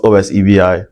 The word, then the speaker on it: Osebi: Spelled O-S-E-B-I, pronounced Osebi.